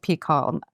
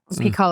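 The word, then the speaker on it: PiHKAL: about it in peall we we pronounce it peall peall a chemical Love Story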